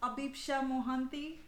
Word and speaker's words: Abhipsha Mohanty: So the correct pronunciation is Abhipsha Mohanty. Abhipsha Mohanty.